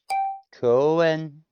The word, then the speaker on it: 公園: 公園こ Ko, こう u, え e, ん n, 公園 koen.